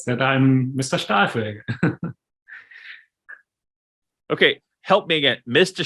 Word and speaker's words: Stahlfelge: Am I saying it right? Nearly. It is Stahlfelge. Stahlfelge. It means steel wheel.